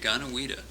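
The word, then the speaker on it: Deganawida: Well, your central character, Didana, how do you pronounce Daganawida. it? Daganawida, apparently was a very influential character and was historical.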